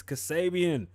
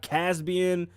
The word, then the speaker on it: Kasabian: name 70 million times it's kasabian not caspian xavier none of that put some respect on